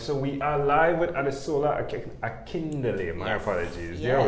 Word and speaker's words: Adesola Akindele: Adesola Akindele. That's how I would say it. Adesola Akindele.